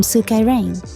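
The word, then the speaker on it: スカイライン: word blend for you combining hako for box and Suka from sukka rain the Japanese pronunciation of skyline because let's face it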